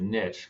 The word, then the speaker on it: niche: And also, I always like to pronounce it niche because then it gives me this great rhyme, but the riches are in the niches.